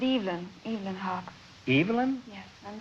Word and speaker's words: Evelyn: Well, I pronounce it Evelyn.